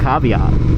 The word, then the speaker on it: caveat: But this comes with a caveat. I don't know if that's how that word is pronounced. Caveat.